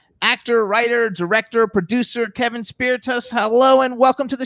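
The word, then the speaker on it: Spirtas: kevin how do i correctly spell your uh pronounce your last name you correctly spell my last name spiritus spiritus spiritus okay so i did it pretty close earlier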